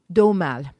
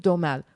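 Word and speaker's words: Aumale: yeah and he was the duke domal the duke domal who was the last prince spell that a-u-m-a-l-e okay he was the last of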